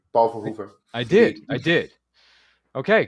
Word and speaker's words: Verhoeven: Uh here to watch some um you pronounced it correctly. Paul Voover.